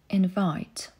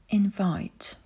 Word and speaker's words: invite: Wymowa czasownika i rzeczownika dla kontrastu. Zachęcam do aktywnego słuchania i powtarzania, jeśli masz taką możliwość. Invite. Invite.